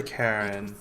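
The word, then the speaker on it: Charon: it's just as you described it only your pronunciation is a little off the name you heard wasn't oh the other Karen c h a r o n wait if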